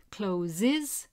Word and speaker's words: closes: Closes has an extra syllable because of the z sound there, so that's not right.